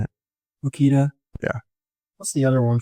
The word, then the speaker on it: Makita: Like Makita. Is that how you say it? Makita.